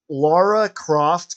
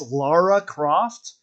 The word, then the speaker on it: Lara Croft: So, you know how when Laura Croft came out in DVD? A lot of people call her Laura Croft. People like, don't you know it's Lara Croft?